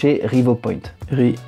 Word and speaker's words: Revopoint: to use the inspire I'm going to pronounce it in French the scanner from rivopoint I go to Software